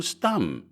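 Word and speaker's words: Stumm: "Why, it's Colonel Stum," he cried. He pronounced it like the first syllable in stomach.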